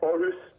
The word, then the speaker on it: Aarhus: Yeah, Aarhus. Aarhus. Aarhus, that's a Magnus song, isn't it? How was that? How did it come about? Yeah, well, how was it, mate? How was Aarhus?